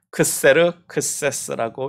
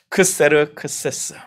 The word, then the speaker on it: 크세르크세스: 헬라식 발음으로는 크세르크세스라고 이야기해서 역사 가운데서 유명한 왕이에요. 크세르크세스.